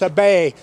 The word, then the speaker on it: Abe: I like I say it's pronounced a bay Abby Abby him Abe I'm gonna start calling